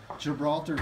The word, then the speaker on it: Gibraltar: We've got a new, how's it pronounced? Gibraltar? Yeah, Gibraltar stealth rack.